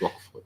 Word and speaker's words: Roquefort: There's no Rogue. It's Roquefort with a Q. I think it's with a Q. It's pronounced Roquefort. It's French.